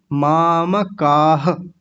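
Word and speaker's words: मामकाः: जैसी आवाज आएगी पीछे और माम का नहीं बोलना माम मकार पूरा है ये जो म है ये पूरा है तो पूरा बोलेंगे आधा नहीं बोलना नहीं तो गलत क्या हो जाता है माम माम बोलते हैं माम नहीं माम मामकाह ऐसे बोलेंगे मामका ठीक है समझ में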